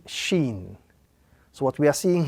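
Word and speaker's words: شين: This letter is pronounced when the middle of the tongue rises and touches the upper palate. That combination would give us the sound sh or the sound of SH in the English language, and it will also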